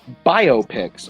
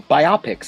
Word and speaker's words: biopic: is gonna come in bio pics or bioptics as some people like to mispronounce a beautiful mind is